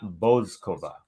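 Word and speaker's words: Bouzková: So according to the WTA website, the pronunciation is Marie BOUZKOVA.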